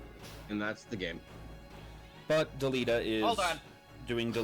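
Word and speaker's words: Delita: I play this game I have always pronounced his name is Delta wait what well there's an eye in there but yeah I guess I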